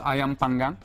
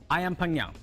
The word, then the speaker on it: ayam panggang: So how do you pronounce it? It's called ayam panggang. Ayam panggang.